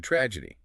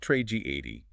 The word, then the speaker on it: tragedy: The same stress rules apply to tragedy. It is not tragedy. The stress is on the first syllable. Tragedy.